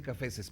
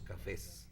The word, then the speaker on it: cafés: es, bueno, sí, okay, no vamos a decir cafeses, pero entonces, ¿cómo se dice? Zapatos café o zapatos cafés. Pues mira, como quieras. Tú dile café o cafés. No me molesta. negro o negros, pero por favor nunca digas caféceses o cafeses.